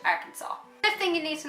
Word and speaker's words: Arkansas: That's like us going to America and saying Arkansas when it's actually Arkansas.